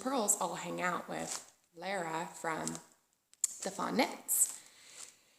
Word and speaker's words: Lara: because I feel like I owe Lara an apology I say Laura or Laura or it's her name's Lara it's l a r